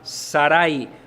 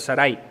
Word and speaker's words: Sarai: y en ese momento se llama Saray o Sarai creo que la pronunciación correcta es Sarai en el capítulo 11